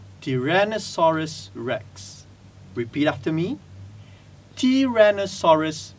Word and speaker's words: Tyrannosaurus rex: dinosaur as t-rex and some of us actually pronounce it as Tyrannosaurus Rex which is wrong the correct pronunciation would be Tyrannosaurus Rex Tyrannosaurus Rex repeat after me chiren asaurus rex that's it